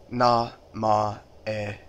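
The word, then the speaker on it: 名前: Now, if you want to say your name, if you want to say the word name, it actually sounds pretty similar to English. It's na-ma-e.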